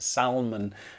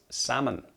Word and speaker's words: salmon: It's pronounced salmon. I have heard many people saying it salmon because they want to put that L in there. But we just don't say it with the L, we just drop the L. It's salmon. And what might we have with our salmon?